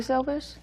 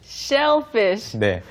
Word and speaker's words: selfish: 상대방이 오해를 합니다 즉 selfish how can you mess up the pronunciation shellfish네 sell 부분에서 발음이 좀